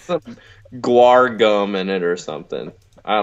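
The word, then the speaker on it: guar: go it not narum gu gum like gu like the band yeah but not spelled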